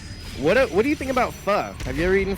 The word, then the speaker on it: pho: Have you ever eaten pho? I mean, yeah, pho, yeah. Pho? Yeah, I guess it's pronounced pho here. Yeah. I used to pronounce it pho, and then people are like, no, it's pho.